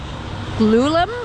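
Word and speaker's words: glulam: mass timber its frame will be made from lulum i think that's how that's pronounced it's g-l-u-l-a-m it's glued laminate timber uh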